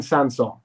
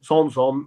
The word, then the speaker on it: Sanson: against manchester city and we were told it was samsung morgan sansone now if you want to go the whole hog and go tom's home and really put the accent on that's kind of up to you but we we we